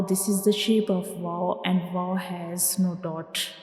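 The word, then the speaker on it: و: Now we move to the next letter, that is Vaw. Vaw. Vaw. Read after me. Vaw. Vaw. Say it again. Vaw. Vaw. Now try to recognize the structure of vaw. This is the shape of vaw, and vaw has no dot.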